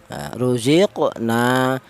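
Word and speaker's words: رُزِقْنَا: Untuk cara bacanya di sini huruf qaf dipantulkan. Jadi artinya qalqalah itu ada suara pantulan. Cara bacanya ruziq, ruziqna.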